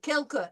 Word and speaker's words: quelques: prononcer quelques voyelles françaises. Pretty good. Quelques.